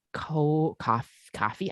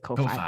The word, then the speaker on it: Ko-fi: send us to our coffee. I keep wanting to pronounce it Ko-Fi, but it's for sure coffee.